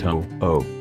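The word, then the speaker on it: ʻōʻō: of four extinct species of oak pronounced ho-oh in the Moho genus the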